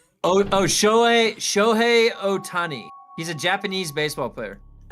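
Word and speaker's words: Ohtani: Ootani. Oh. Show Otani.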